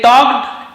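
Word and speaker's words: talked: they टॉक्ड and became friends, और उन्होंने बात की, तो टॉल्ड नहीं पढ़ेंगे, टॉक्ड पढ़ेंगे, एल साइलेंट होता है, तो उन्होंने, दे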